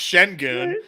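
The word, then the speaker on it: Şengün: Well, first off, the other Sengun is actually pronounced Shengun.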